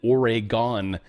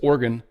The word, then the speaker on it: Oregon: Republican lawmakers tee up a battle over transgender sports in Orgon as some people say. It's Oregon.